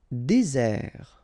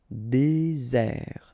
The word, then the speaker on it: désert: Désert. Okay, remember, final T not pronounced. Désert. And really this Z sound just because you get one S between the two vowels.